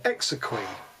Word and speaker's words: exequy: Okay, oh my goodness, how to pronounce this one? Oh yeah, exequy.